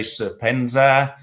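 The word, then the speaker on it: Serpentza: I say Serpent ZA because I'm English. Other people say Serpenza, Serpent ZA.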